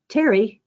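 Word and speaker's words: Pterry: Terry, his name is spelled P T R R Y like PT for pterodactyl.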